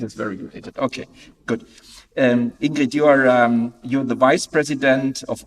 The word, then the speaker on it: Ingrid: In Danish, it's Ingrid. Ingrid. In Norwegian, it's Ingrid. Okay. Not Danish. For this Ingel, we had in German to offer Inge. It is very related. Okay, good. Ingrid, you're the vice president